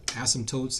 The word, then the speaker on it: asymptotes: we see here in the notes is called asymptotes that's how it's pronounced our content goals for today is to